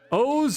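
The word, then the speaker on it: OOO: O's versus Evil Mario.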